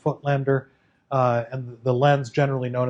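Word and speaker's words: Voigtländer: by the company petzval and footlender so that's pronounced footlander and the lens generally known as the footlander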